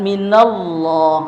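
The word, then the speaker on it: من الله: kehendak Kemudian kedua atau setelah fathah ya baris batah seperti lafaz minallah apa? Minallah. Allah itu tebal.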